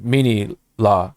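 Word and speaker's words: Minilla: those especially like right around like when they introduced the minia or manila whatever you how you pronounce manila yeah well cuz in Japanese it's mini it's mini la because Godzilla you know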